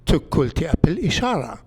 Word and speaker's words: Tiglath-Pileser: We know now from the Assyrian cuneiform inscriptions that the king's name, Tiglath-Pileser, was actually pronounced Tukulti Apil Ishara.